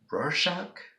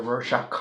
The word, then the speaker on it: Rorschach: me give you some examples can you say Rorschach that's a little trickier but I'm pretty sure